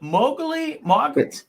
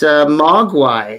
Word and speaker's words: Mogwai: Is it Mowgli? It's Mogwai. That's actually.